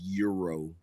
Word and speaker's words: gyro: some people don't even some people will tell you that the g is silent yeah it's hero that's what I mean I mean to be fair there are some people that refer to it as Euro yes but they're weirdos anyway they were Arabic